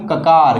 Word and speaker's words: ककार: इनका अगर सही उच्चारण करना है दोस्तों, तो इनका सही उच्चारण कैसे होगा दोस्तों? इनके सही उच्चारण होगा, इनको बोलेंगे हम खकार, इसको क्या बोलेंगे हम? ककार। क्या बोलेंगे? ककार, यानी इसको ककार बोलेंगे, इसको खकार बोलेंगे।